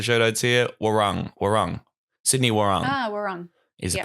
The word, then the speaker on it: Warung: Sydney Warung. Warung. Is the pronunciation of that.